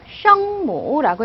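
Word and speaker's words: 声母: 성모는요, 셩모라고 읽어요. 소리의 엄마란 뜻이죠.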